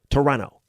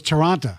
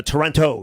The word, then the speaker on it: Toronto: You don't pronounce the T. Toronto. I always thought it was Toronto. No, no, no. Toronto.